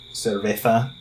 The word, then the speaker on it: cerveza: But when they teach you how to say it, it's not with the, like beer in Spain Spanish is, was it cerveza with that weird.